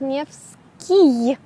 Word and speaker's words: Nevsky: It would be written with a Y, but not I-Y, but just Y. And, like, if you read it as a foreigner, it's not clear that you have to pronounce it as Nevsky.